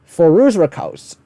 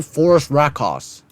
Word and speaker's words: Phorusrhacidae: Phorusrhacidae. This is actually a fine pronunciation. It's a bit better, but I'd still call it Phorusrhacidae.